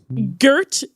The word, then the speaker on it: Gert: say that name again for me and spell it out? Gert, G-E-R-T, Gert Gert.